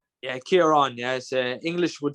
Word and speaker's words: Ciaran: how is it for us Americans to pronounce pronounce your name I I was about to say Syrian but uh the the gentleman that got online